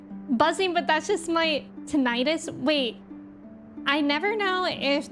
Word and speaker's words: tinnitus: My doctor always pronounces it with a soft I. So tinnitus? Okay. Tinnitus? I think it might be like tomato tomato.